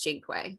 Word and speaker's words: cinque: But that's not how you pronounce it. It's Cinque. So we're also learning things on the podcast. Wait, what is it? Cinque. What that's is that? How you say 5 in Italian.